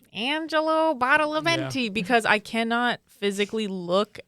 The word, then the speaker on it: Badalamenti: So I'm going to say when he's like, Angelo Badalamenti, because I cannot physically look at like Angelo Badalamenti's name Without hearing that?